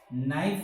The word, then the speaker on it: knife: in the sound nice knife is starting with nerve because k is silent a knife a car